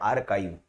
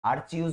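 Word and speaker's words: archive: उसे बोलते हैं आर्काइव। ये देखो इसका प्रोनाउंसिएशन ध्यान दीजिए, आर्चीव्स बोलते हैं कुछ लोग, है ना। ये होता है आर्काइव।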